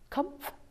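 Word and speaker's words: Kopf: read in the newspaper last year about Judge Kumpf. Judge Kupf, it's spelled K-O-P-F.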